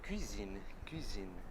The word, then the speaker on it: cuisine: Agora a dica, quando for falar cozinha, tá? Lembra o seguinte, o que você faz geralmente na cozinha? Comida, né? Comida para quê? Para comer. Comer com o quê? Com a boca, né? A boca precisa da boca para comer. E na boca me lembra do quê? Do biquinho do francês.